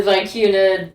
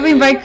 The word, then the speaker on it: Vicuna: But I really like the Vicuna. Sounds really good, but I already hate. Right. Is that supposed to be because Coop was telling Albert to get tuna? Because Vicuna rhymes with tuna.